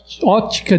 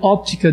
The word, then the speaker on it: óptica: Então, na hora de escrever ótica de raio-x, na verdade se pronuncia óptica de raio-x normalmente, né?